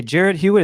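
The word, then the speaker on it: Jarrod Hewitt: And one that stood out to me was Virginia Tech's, I want to say Jared Hewitt.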